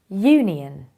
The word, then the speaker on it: union: it is a history another example is union this is pronounced as union so although it starts with a vowel it is a consonant sound therefore you have to say a union what is the difference